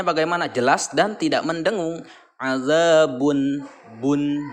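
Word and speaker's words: عذاب: Azabun bun. Nah, jadi bun terakhirnya adalah bunyinya bunyi n ya, bun. Bukan ang tapi an.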